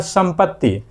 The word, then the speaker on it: संपत्ति: से हो गया स और जब हम संपत्ति बोलते हैं तो संपत्ति बोलने के दौरान अनुसर की जो मात्रा है उसका उच्चारण मो जैसा लग रहा है इसलिए मो लग रहा